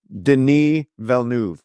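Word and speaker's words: Denis Villeneuve: and effects and uh Deni vnu uh tremendous director by the way I practiced five times how to say his name Deni Vu is is the correct pronunciation and when Dune part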